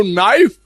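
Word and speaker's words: knife: बोलो नाइफ, लिखो कनाइफ।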